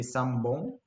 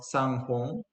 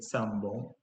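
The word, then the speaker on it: 三本: And same goes with let's say for practicity sambon, because it's difficult to pronounce sanghon. It's not very the language has a tendency to unify to simplify things.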